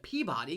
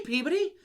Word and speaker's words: Peabody: next to Salem, and I was calling it Peabody because it's spelled Peabody.